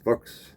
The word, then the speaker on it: Fuchs: here it is okay my last name is Fuchs pronounced folks in german yes we know what that